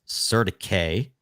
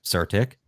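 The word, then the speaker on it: CertiK: now we're using surtic actually the way you've pronounced their name technically is Serta K but surtic to audit all of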